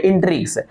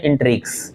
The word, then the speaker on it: intrigues: इंट्रिगीज के कारण। हाँ, इंट्रिगीज के कारण। ऐसे इंट्रिग इसको पढ़ते हैं, इंट्रिग्स, शुद्ध उच्चारण होता है इंट्रिग्स, INTRIGUES को पढ़ते हैं इंट्रिग्स।